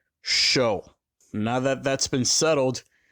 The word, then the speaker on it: SHO: from Ford's official website the sh o originally spoken as individual letters as of 2010 is pronounced show now that that's been